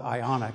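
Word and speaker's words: Ioniq: call a Prius fighter we call it ionic it's not been announced yet it's spelled I oh ni q and this car is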